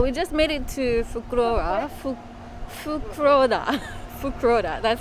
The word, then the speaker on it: Fukuroda: all right so we just made it to fukurova that's how you pronounce it um i'm gonna try and see